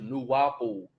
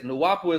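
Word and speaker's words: Nuwaubu: of the new bowl all which ties into nuapu it says nawapu is pronounced nuapu the meaning of the word nuapu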